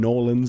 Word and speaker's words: New Orleans: to New Orleans uh or New Orleans as you might pronounce it um or even Norland I think it gets pronounced as if you if you're from there I've never really been